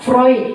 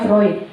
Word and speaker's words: Freud: Ya, Freud, bacanya Freud, bukan Freud.